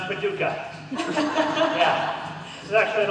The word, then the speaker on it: Paducah: and for the record I do know it's pronounced Paducah yeah this is actually an old stomping grounds